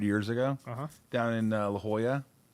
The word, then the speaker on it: La Jolla: down in La Jolla. Which is spelled differently than what you would think.